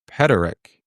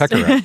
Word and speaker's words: Pekarek: And then Lisa Petarek. Lisa Petarek. Lisa Pekarek. Yeah, almost. Pekarek, yeah. Oh, that was a K, or not a T.